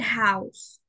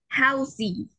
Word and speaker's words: house: En el caso de house, house termina en una vocal y la E ni siquiera se pronuncia. House. No decimos housey. No, decimos house. La E no se pronuncia al final.